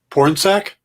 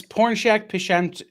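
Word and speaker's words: Pornsak: do it without laughing porn sack yes uh it's porn shack nick would be able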